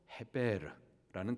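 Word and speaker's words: עֵבֶר: 있습니다 에벨 건너온 자 그리고이 에벨이라는 단어를 히브리 발음을 하면은 단어에서부터 헤베르라는 단어가 나옵니다 창세기 14장 13절 말씀에 아브라함을 지칭할 때이 단어가 처음으로 사용이 됩니다 그래서 아브라함에 대해서 히브리 사람이라고이 에베르라는 이름을 아브라함에게 끼어서 사용을 하고 있어요 이 아브라함을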